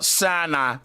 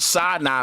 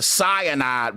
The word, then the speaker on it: Sinai: him on the uh Sinai Bible. First of all, Billy was mispronouncing it. It is the Mount Sinai Bible and he was calling it damn like the Cyanide Bible or something. That's a poison.